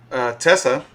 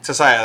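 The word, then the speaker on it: Tissaia: And in that, she does end up getting found by Tessa, right? And she's like the what would you say, like the main head witch? Or Tisaya, yeah. Tessaya, there you go, Tessaya.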